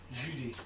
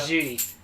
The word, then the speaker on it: Jeudi: It's Jeudi. Yeah. Jeudi.